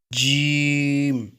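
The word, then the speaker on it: ج: জিমকে শক্ত করে এবং 4 সেকেন্ড টেনে পড়তে হবে। জিম জিম জিম জিম।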